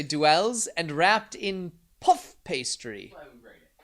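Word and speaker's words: duxelles: with pate and dwells i'm going to say duels and wrapped in puff pastry i nailed it don't i know gravity is all right i just looked it up it's pronounced duke souls now we know at least i got pate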